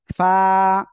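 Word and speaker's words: ف: আপনারা উচ্চারণ করবেন হলো নিচের ঠোঁটের পেট সামনের উপরের দুই দাঁতের আগার সঙ্গে লাগাবেন লাগিয়ে হালকা বাতাস বের করবেন বের করে উচ্চারণ করবেন ফা ফা ফা আর দেখবেন বাতাস বের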